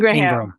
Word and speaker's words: Ingraham: So, it's spelled Ingraham, but it's pronounced Ingram.